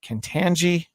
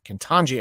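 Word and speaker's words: Ketanji: judge uh content uh cantangi i said her name wrong kintonji i think uh brown jackson uh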